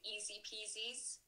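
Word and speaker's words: IZIPIZI: I think lots of my friends are using Easy Peasies, spelled like I-Z-Z-I-P-I-Z-Z-I.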